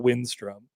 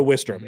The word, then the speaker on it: Wistrom: Nick cuz Nick asked us how to pronounce Grant Wistrom and I was like Grant Wistrom, not Windstrom.